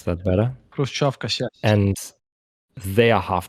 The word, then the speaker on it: Khrushchevkas: But then you go to Saltivka and you are inside a humanitarian catastrophe, inside huge buildings, Khrushchevkas, you can probably pronounce that better. Khrushchevkas, yes.